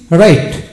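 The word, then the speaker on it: right: জি এইচ জি বা জি এইচ এর উচ্চারণ হয় না যেমন আর আই জি এইচ টি রাইট রাইট যেমন এখানে ব্রাইট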